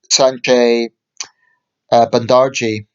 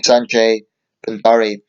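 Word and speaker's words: Sanjay Bhandari: The chair of Kick It Out, Sanjay Bandarji, if I can pronounce the guy's name right, excuse me, Sanjay Bandari.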